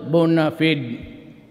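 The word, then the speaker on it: bona fide: the Bon fid media BF media sometimes the pronounce Bon feed but whatever thing is the media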